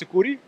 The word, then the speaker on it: Sucuri: do you did well it's it's suuri it's a Portuguese for Amazonian Anaconda but uh suuri works just fine as